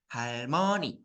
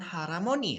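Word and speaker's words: 할머니: apaap hal betul ya itu nenek bacanya Harmon bukan Haroni ya nah jadi yang betul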